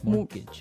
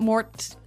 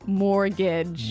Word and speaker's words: mortgage: with a t yeah it has a t in it but you don't pronounce it you say mortgage morgage so not Mort mortgage not mortgage morgage mortgage yeah I had